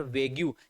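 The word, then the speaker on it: vague: और पूछा गया था सर वेग्यू, जिसका राइट प्रोनाउंस होता है बच्चों वेग, एडजेक्टिव है ये भी, और इसका राइट प्रोनाउंस होता है वेग। बोलो वेग, बोलो वेग, मुंह में दही मत जमाओ ना, ना ना ना, बोलो वेग, वेग।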